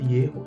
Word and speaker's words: Yehová: Ierro é muito natural dentro da língua hebraica.